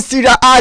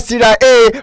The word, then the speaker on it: Serie A: Some individuals are called Italian Serie A, Serie A. Please, it's not really called Serie A, it's called Serie A. That A is not pronounced literally, it's pronounced as A, Serie A, not Serie A.